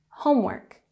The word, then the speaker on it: homework: And homework, we have emphasis on the first syllable, homework.